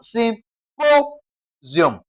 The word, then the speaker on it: symposium: We're going to stress what now? Sym po sium, okay? Po, okay? Emphasis should be laid on po, okay? So, you have sym po sium, okay? Po is stressed.